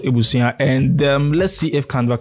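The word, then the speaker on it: abusua: Okay, so it's A-B-U-S-U-A, but it's pronounced Ebusuan.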